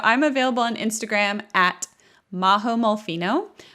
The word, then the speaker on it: Majo Molfino: available on instagram at mahomolphino majo spelled with a j so that's m-a-j-o and that's also my